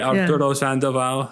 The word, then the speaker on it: Arturo Sandoval: Or like this trumpeter from Cuba, Arturo Sandoval. I don't know how to pronounce it. You pronounced it really good. You rolled your R's. Yeah. That was solid. Okay, Arturo Sandoval.